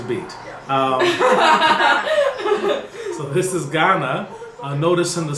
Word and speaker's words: Ghana: um so this is Ghana notice in the spelling that in English we have an H between the G and the a but the pronunciation is pretty much the same all right I think